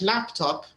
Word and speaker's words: laptop: little tricky it's like laptop the correct way is laptop but in libya many people say laptop right yeah it's laptop yeah the stress is on the first syllable laptop not laptop yeah uh two different